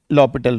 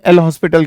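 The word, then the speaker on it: L'Hôpital: कि आपको लगाना है लॉ पिटल रूल काफी लोग इसे एल हॉस्पिटल कहते हैं बट नो इट इज not pronounced A एल हॉस्पिटल इट इज लॉ पिटल इट is French word और यदि सही प्रोनाउंस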